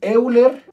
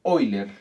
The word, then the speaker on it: Euler: y seno de teta hay quien dice que es euler a mí me enseñaron en la universidad que se pronuncia hoy leer la voy a aplicar